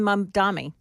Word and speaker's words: Mamdani: Zohran Mamdani.